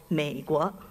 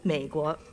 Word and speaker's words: Měiguó: In the Mandarin Chinese language, the United States of America is called Meiguo, just two syllables, Meiguo, and translated literally, that means the beautiful country.